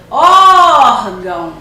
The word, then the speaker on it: órgão: e mãe e bênção na palavra órgão qual será a sílaba tônica E aí vamos então para a pronúncia chamar a palavra órgão órgão e qual é a sílaba tônica é o ó aqui o tio ele